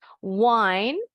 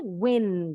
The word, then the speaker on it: wind: Word number 4, ada dua pengucapan. Yang ini ketukar. Benar deh, salah. Wine artinya memutar.